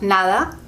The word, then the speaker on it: nada: spanish is dijital and when the d is in the middle of a word like nada you can hear it's very soft nada or sometimes we just say na because we can't bother pronouncing it sometimes um we really like to speak quickly so sometimes getting rid of that consonant hard constant sound helps us go faster other examples like that